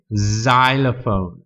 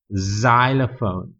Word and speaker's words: xylophone: x-ray ออกเสียงชื่อของตัวนี้ x x-ray บางคำมี x แต่จะออกเสียงเหมือนตัว z อย่างเช่น xylophone xylophone อันนี้เป็น Christmas CHRIST แต่ใช้ตัว